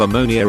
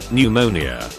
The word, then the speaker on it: pneumonia: Numerous patients' families who tell me their loved ones have ammonia of the lungs. Pneumonia.